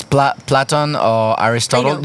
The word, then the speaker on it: Plato: know if it's PL platon or Aristotle you say Plato it's Plato in French it's platon platon yeah uh so I